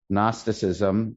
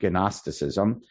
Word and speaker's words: Gnosticism: Okay, there was that in Zoroastrian, which was in Persia, but even in Eretz Yisrael, there was Gnosticism, spelled with a G, Gnosticism, and some of the Gnostics were binitarians.